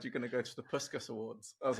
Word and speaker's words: Puskás: Puskás, that's it.